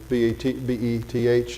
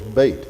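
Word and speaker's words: בית: Like when you see B-E-T-H in the Hebrew text, the Old Testament, would say Beth, El, whatever. It's always bait. Even today, it's bait. That's house. So the E is lengthened, gets an A sound. The TH is hardened, makes a T sound.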